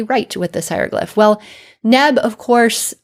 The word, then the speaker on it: nb: So of course in modern times we pronounce this as neb, but this is just a modern convention to stick that vowel in there.